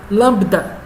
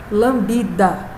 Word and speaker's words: lambda: É uma letra do alfabeto grego chamado lambda. Não é lambida, tá certo? Não tem o I de lambida, é só lambda. O B é mudo.